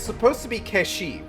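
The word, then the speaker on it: Cait Sith: it's supposed to be kesi right that's how it's supposed to be pronounced but like didn't they recently say that in ff7 rebirth it was going to be pronounced as Kate Sith so who can really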